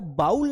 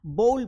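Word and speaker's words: bowl: तो यहां पर आपको बाउल नहीं पढ़ना है। बॉल पढ़ना है।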